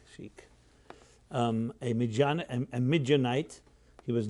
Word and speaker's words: Sheik: named after a Sheikh the Sheikh how we pronounce it chic um a midianite he